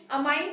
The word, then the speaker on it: amine: Pronunciation है, अमाइन भी बोला जाता है, अमीन भी बोला जाता है। ठीक है, तो आप कुछ भी बोल सकते हैं।